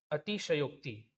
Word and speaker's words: अतिशयोक्ति: अतिशयोक्ति लिखा है अक्ति अब उच्चारण में मेरे ध्यान देना मैंने बोला अति सक्ति और एक बोला अक्ति यह लिखा है जो अक्ति जो की गलत है होता क्या है अतिशयोक्ति क्लियर यह होता है रा दो मैंने बताया